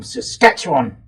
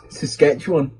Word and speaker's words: Saskatchewan: they're here or the ones coming across from Saskatchewan other mate Riley reckons it's funny the way